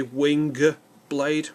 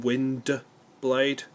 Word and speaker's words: Windblade: stroke generations wind blade I keep going to say wing blade rather than wind blade which is why I keep glancing at that to make sure I'm saying it right but this as far